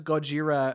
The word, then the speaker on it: Gojira: Now, is him referring to him as Gojira, like, is that really like an Easter egg? Because I guess that's how you pronounce the character's name in Japanese.